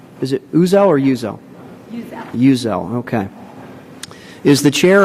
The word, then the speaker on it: Uzzell: Donna, is that the correct pronunciation? Is it Uzzell or Uzzell? Uzzell.